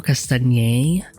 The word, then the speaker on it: Castagnet: Alvaro Castañer. Or I just in my head I spell it Castagnet because that's how you spell his name.